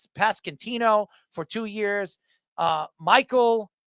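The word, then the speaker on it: Pasquantino: How do you pronounce that? Ino Pascantino for two years.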